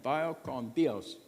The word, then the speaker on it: vaya con Dios: But if you try it to a Spanish speaker, they will often correct you, thinking that you don't know how to say it. It's kind of like saying, good you're by. Because I tried it when I was in Mexico. Vaya con su Dios. Like, no, vaya con Dios.